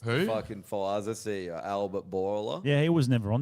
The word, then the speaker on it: Bourla: It's like Bourla. Bowl, How like do you bowl, spell it? Like Boulder, B-O-U. but without the D.